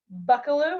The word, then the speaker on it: Buckallew: Okay, so I'm Kate Johnson, and I'm interviewing Jenny Buckallew. Is that how you say it? Yep, that's right.